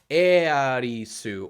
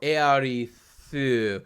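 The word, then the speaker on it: エアリス: And in Japanese, you'd pronounce it Earisu or Earithu, because S-U and T-H-U are like the same sound effect in Japanese.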